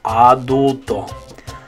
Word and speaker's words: adulto: Okay, the next word we had was adult in English. So in English, you'd say adult. And that one, the A is making like a sound, adult. But in Spanish, it's A, adulto.